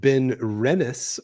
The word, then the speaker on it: Ben Rennis: It is pronounced Ben Rennis or Ben Rennis. Rennis. So that emphasis is on the Rennis.